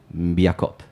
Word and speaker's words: Mbiakop: I will pronounce it as perfectly as possible. Mbiakop.